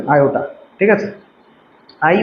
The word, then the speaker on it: আয়োটা: ঠিক আছে, আই বা ভালো নাম হচ্ছে আয়োটা, বাংলায় আমরা এটাকে এইভাবে উচ্চারণ করতে হবে, আয়োটা।